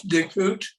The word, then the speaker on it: Dickhut: I'm happy to be here today speaking with David Dickhut. Is that proper pronunciation of your name? Pretty close, Dickhut.